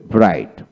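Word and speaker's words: bright: এখানে জিএইচ উচ্চারণ হলো না। একইভাবে ব্রাইট, ব্রাইট, টাইট, টাইট, লাইট, লাইট।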